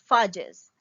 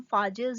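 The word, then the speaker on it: phages: पास आएगा shape of फाजेस. तो हम यहाँ पे जो बैक्टीरियोफाजेस या जिनको हम फाजेस या फेजेस जो भी प्रोनाउंस करें दोनों ठीक हैं.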